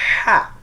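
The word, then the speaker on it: ح: যখন লাগবে দেখবেন এমনিতে সুশু শব্দ চলে আসবে হা অক্ষরটা কন্ঠনালী মাঝখান থেকে সুশু শব্দ হবে হা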